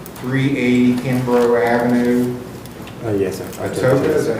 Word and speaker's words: Atoka: Atoka, is that how you pronounce it?